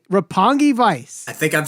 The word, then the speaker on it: Roppongi Vice: strike two for you you said roppongi vice it's repugnant repugnant vice republican it's roppongi vice say it right roppongi vice i think i'm saying